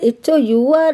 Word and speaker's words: hour: sound එකක් අපි කියනවා an hour අපි have h o u r නේ අපි කියන්නේ පැයක් කියනකොට h o u r නමුත් අපි h එක silent letter එකක් අපි hour කියන්නේ එහෙනම් vowel sound